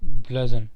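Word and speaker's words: bludgeon: pronunciation ध्यान से सुनिएगा, ब्लजन, ठीक है, इसका मतलब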